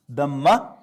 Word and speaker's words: dhamma: For further convenience, you will find in the Arabic to English dictionaries that even the last H is not pronounced.